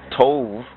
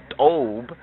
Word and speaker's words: Tob: Tobiya, come from Tob, and Tob in the Hebrew, mispronounced by the Ashkenazis, Tov, or Tova, as they say, Tova Rabba. Tov means good in the forced Hebrew of the Ashkenazis, but when we go to the Ethiopic root, we find that Tov is pronounced correctly as Tob, and then we have